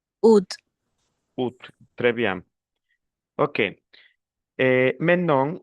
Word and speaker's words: août: avril avril a se pronunce a se pronunce et je pronunce mais nationalisation n'oubliez pas naalisation La double estou le t final ne se prononce pas alors août août septembre septembre octobre novembre décembre brutre fois la prononciation répétez tout le monde.